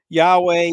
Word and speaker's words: Yahweh: Yahweh is how you pronounce it, but I'm in disbelief you're quoting all this yet.